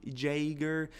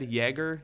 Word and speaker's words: Jäger: don't have that letter I'd almost spell it with an e instead Yeager Yeager it's closer than